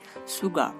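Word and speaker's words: sugar: দেখুন এখানে আমরা যে উচ্চারণটা করছি এখানে আর এর যে রটা উচ্চারণ করি সেই রটা হালকা উচ্চারণ করতে হয়, সুগা।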